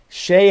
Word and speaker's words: Chaix: Shay has a ridiculously low price drum kit that should cost like 30 or 40 bucks. It's $5. His name is spelled Chaix.